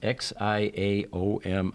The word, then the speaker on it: Xiaomi: This is a Xiaomi brand, and that's how you pronounce Xiaomi.